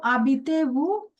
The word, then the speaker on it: habitez: Here, one thing I want you to remind, H is a silent letter in French, wherever it is used. Okay, it is a silent letter. So the sound of H is here silent. So you have to say, où habitez-vous?